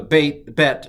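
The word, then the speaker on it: ב: Now, the Bet, I'm going to do differently. So I'm going to go ba if it has the dot and va if it doesn't.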